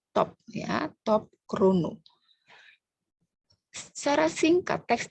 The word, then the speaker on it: top: Walaupun dalam bahasa Perancis TOP, on ne prononce pas le P, mais parce que c'est un mot de l'anglicisme, on prononce le P, top, ya, top chrono.